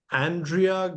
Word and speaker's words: Andrea: no it's it's okay Andrea it's the correct pronunciation but that's fine can call me Andrew I'm based in uh